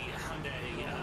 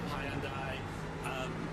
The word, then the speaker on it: Hyundai: Yeah, the Hyundai, or Hyundai, there's like so many pronunciations depending on what part of the world you're from and depending on how you feel about it.